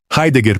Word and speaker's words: Heidegger: A regra citada para Heidegger está mal atribuída. Você vai ouvir que em alemão a letra E soa como o nosso ai. Isso é falso e destruiria metade do idioma. A regra vale para o dígrafo, o E seguido de I, que juntos produzem esse ditongo. Heidegger, portanto, começa com algo próximo de RHI, com o R aspirado do português, e tem os dois